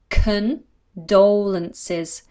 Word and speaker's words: condolences: how do you pronounce condolences condolences my condolences so there's a schwa there at the beginning cookin condolences condolences till